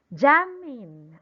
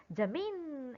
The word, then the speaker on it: Jamin: put the stress correct the stress will be on top of letter a how should we pronounce it jamming okay very good jamming jamin okay we're not calling him jamin jamin is wrong that will happen if you put the stress on letter i but since it's a